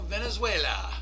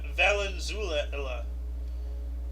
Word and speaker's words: Valenzuela: do it yeah 1981 the Dodgers rookie Fernando Valenzuela Valenzuela uh tossed his third shutout in four starts come on Fernando Venezuela Venezuela yeah but it's it's not Venezuela it's Valenzuela Amanda Venezuela it's not Venezuela it's it's Valenzuela